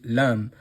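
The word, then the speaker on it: لام: Lamb is pronounced from the top of the mouth as we can see here in the card. The the dot is at the top here and this is where the letter lamb should be pronounced.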